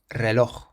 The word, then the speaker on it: reloj: We say reloj. Reloj. So it's not reloj, but reloj. We emphasize the loch on the end.